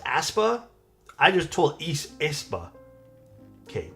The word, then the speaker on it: Aespa: It's pronounced Aespa.